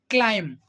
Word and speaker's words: climb: pronounce we will pronounce climb climb okay as per the rule if you have got that b is coming after m b is coming after M so B will be silent okay the same point